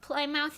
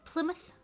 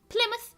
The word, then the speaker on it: Plymouth: next next question like play mouth in England is pronounced Plymouth Plymouth well we say mouth like MTH a lot of times and certain like Road